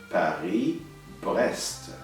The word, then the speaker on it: Paris-Brest: Paris, notice we don't pronounce the S at the end of the word. Paris-Brest, the name of two cities in France.